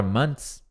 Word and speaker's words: month: Detalhe na pronúncia da palavra months, a palavra meses, é o seguinte, a palavra mês em inglês, você fala month. Você fala man, isso aqui é um man, e o TH. Então, month.